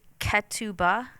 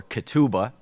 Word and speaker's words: Ketubah: So next is Ketubah. Yeah. Good. That was a very American pronunciation.